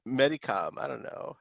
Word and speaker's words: Medicom: help dude we don't know the it's it's Medicom I don't know how do you pronounce that phonetically yeah medical I was right Medicom I know it was long past dude we're